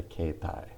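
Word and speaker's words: 携帯: came out everybody was referring it to it as a kaitai not a kaitai dimwa but as a ketai ke tai demwa dimwa so just that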